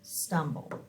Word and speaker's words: stumble: We're going to do accent first syllable, and we do not hear the E.